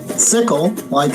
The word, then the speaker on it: Xickle: It's spelled Xickle, but we pronounce the X like an S, so it's sickle like in sickle cell.